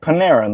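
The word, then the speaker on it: Panarin: No. Like Paneran. Like Panera.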